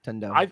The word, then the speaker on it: Tundo: It's pronounced Tundo.